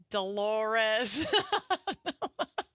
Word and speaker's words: Dolores: Dolores. Rhymes with a female body part, according to Seinfeld. I can't think of her last name, but her first name is definitely Dolores.